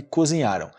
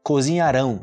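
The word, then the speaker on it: cozinharão: lancharam mergulharam cozinharam trocaram diferente a pronúncia do Futuro Ok Então olha a diferença eu vou pegar aqui cozinharam cozinharam no passado cozinharam cozinharam cozinharam no futuro agora vamos fazer algumas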